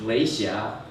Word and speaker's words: Lei Xia: My mother's name is difficult to pronounce. It is Lei Xia, last name Lei, L-E-I, first name Xia, X-I-A.